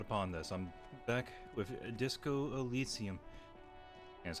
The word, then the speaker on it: Disco Elysium: I'm back with Disco Elisium. That's how it's pronounced.